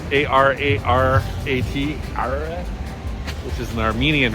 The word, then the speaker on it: Ararat: Ararat, A-R-A-R-A-T, Ararat, which is an Armenian restaurant that I also love, but it's a little pricey, and decided to try something different today.